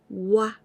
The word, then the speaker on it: は: When we use as particle, we pronounce this one wa. W-A. Wa. But only this letter, if you see only this letter, you pronounce ha. H-A.